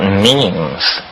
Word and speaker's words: meme: last year about about means you know what means our means are the smallest units of a concept and they're like genes the word is deliberately constructed to rhyme with gene and so when I